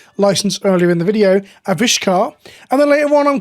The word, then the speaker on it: Avishkar: not a Vish canar think of a fish car that's how I'm trying to remember it a fish car aish